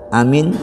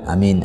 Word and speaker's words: Amin: setelah al-fatihah membaca Amin cara membacanya adalah dengan memanjangkan suara Hai Jadi bukan amin amin Bukan itu tapi Amin suara-suara itu dipanjangkan Hai walaupun pakai suara